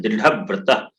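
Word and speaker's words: दृढव्रतः: वहां बलाघात पड़ता है, तो हम दृढ़ व्रत ऐसा पढ़ते हैं। दृढ़ व्रत ध पर हम बल से आघात करते हैं, आवाज में आघात लगाते हैं, तो शुद्ध उच्चारण होगा दृढ़ व्रत।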